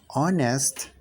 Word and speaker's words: honest: about the sound okay when we say honest we are using the o sound at the beginning okay so that's why